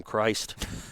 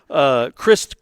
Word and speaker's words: Crist: effects of that crew always want to call Christ I mean it's spelled that way I get it Crist Komachi led the team